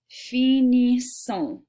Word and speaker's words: finissons: Okay, so this right here is pronounced finissons.